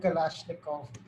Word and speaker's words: Kalashnikov: इट सो I finally know how इट is pronounced it's called कलाशनिकोव that there is no personality profile for your typical terrorist or cult recruit.